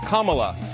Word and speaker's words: Kamala: the whole point of her name is pronounced comma like the punctuation mark look kamala okay okay seriously i've